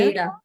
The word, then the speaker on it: Aida: It's cotton floss on cotton Ida Ada Ada cloth. cloth. I initially pronounced it's spelled Aida, and I and I had seen the show Aida, so and Tanya corrected me.